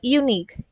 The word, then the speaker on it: unique: You might say that unique, you.